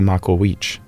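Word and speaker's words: Macuahuitl: You may have heard about the Makawich.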